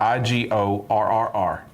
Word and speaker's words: Igorrr: I-G-O-R-R-R. No, that's Igorrr. Ah, okay. Correct. I didn't carry it out long enough. It's a lot of R's. The song is called... 3 R's? Yeah. Igorrr. Igorrr.